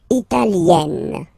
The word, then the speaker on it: italienne: L'Italie, Italien, Italienne. Remember, when you get this followed by a double consonant like here, then you will have to open it.